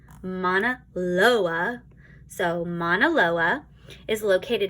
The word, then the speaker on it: Mauna Loa: Mauna Loa. Oops, I said that wrong. Mauna Loa. Nope, said it wrong again. Mauna Loa.